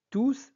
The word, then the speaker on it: tous: les élèves sont arrivés tous sont fatigués alors la première chose à laquelle vous devez faire attention lorsque tout est un pronom on doit prononcer s on dit tous alors tous dans cette